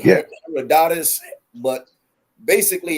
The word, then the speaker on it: Herodotus: Some people pronounce it Her- Herodotus, heredity. right? Some people say Yeah. Herodotus, but basically it's Herodotus, and he wrote an account of his travels,